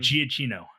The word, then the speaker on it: Giacchino: So all I have from Michael, how do you pronounce his I last think name? Giacchino.